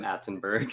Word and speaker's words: Atenburgh: With one T, right? One T and then Burgh, just because I wanted to be extra fancy and throw in a lot of silent letters.